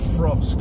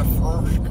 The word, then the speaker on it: Throsk: Throsk is how you say it. It's how locals say it. Why are you in the Throsk?